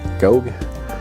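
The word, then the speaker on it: Gough: written by Julian go I think his name is pronounced go uh his uh I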